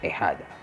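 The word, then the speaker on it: ahijado: here we go again the h you pronounce it silent it's assigned it h and the j becomes the h so so we just change it to ahada and since we have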